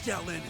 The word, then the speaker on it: Xiaoling: Let's do this, Xiaolin. We won't go easy. Xiaolin, that's how you pronounce it, alright?